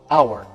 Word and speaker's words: hour: a house hour this one's tricky The Edge is silent now it starts with a vow sound hour so an hour not a hour you even feel it's hard